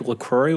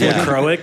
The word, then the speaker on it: LaCroix: It's pronounced LaCroix here in San Francisco. LaCroix. I call it LaCroix.